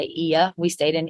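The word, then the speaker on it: Oia: in they I think people pronounce it as Oya but I think they say e we stayed in E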